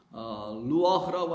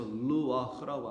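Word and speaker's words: לוח: 근데 이 판이 루아흐라고 하는데 그 여러분 아시는 영을 갖다가도 히브리어로 루아흐라고 하죠. 그때는 R 발음이고요. 이 판으로 말할 때는 L 발음이 돼서 루아흐라고 합니다.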